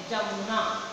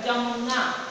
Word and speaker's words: यमुना: य का उच्चारण हिंदी में ज नहीं होता, जबकि उड़िया में शब्द के आरंभ में उपसर्ग युक्त होने पर तथा संयुक्त वर्ण होने पर उच्चारण ज होता है। जैसे शब्द लिखा है, जिसे शब्द लिखा है जमुना, यमुना, उड़िया में कैसे उच्चारण होता है, जमुना।